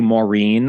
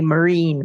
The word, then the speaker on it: Maureen: my name my yeah my grandfather always called me marine marine and I had many